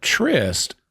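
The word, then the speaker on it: Tryst: even spelled the same trist is spelled with a Y and the character's name is spel it's t r y s t yeah it's like this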